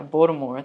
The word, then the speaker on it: Baltimore: Yeah. Baltimore. That's how like locals say it.